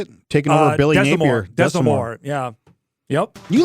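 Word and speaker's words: Desormeaux: Desamore, yeah.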